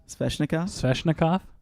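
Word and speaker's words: Svechnikov: Sveshnikov?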